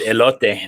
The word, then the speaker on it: elote: Elote.